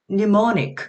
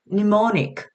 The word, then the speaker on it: mnemonic: 예를 들면 mnemonic, 그죠? mnemonic. 자, 여기 발음 기호를 보시면은 여기가 글자로는 M으로 시작하지만 그죠? 발음 기호상에는 mnemonic. M 소리가 없어요.